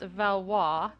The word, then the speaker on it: Valois: I am informed that Madeline's last name should be pronounced Valois, and that my earlier